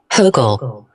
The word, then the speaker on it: Hochul: Hochul.